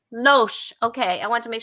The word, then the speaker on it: Loesch: Loesch. Loesch.